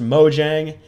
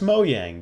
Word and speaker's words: Mojang: right half wrong because it is pronounced moyang just not here in the states and in most countries